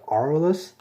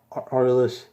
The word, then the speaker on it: Aurelus: Now this is from, I believe, the Aurelus. I believe that's how you pronounce it. Everybody's been pronouncing it. I've been saying this wrong in my Bakugan reviews. But yeah, the Aurelus like faction is currently my favorite.